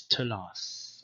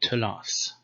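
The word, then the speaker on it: תלת: Okay, the second th is retained because the sound was retained after vowels and it became an allophone of the t. So the t or tau has two different pronunciations, t and th, but these are basically the same phoneme. So in Targumic Aramaic you say telath. So th became t, but it stayed th after vowels.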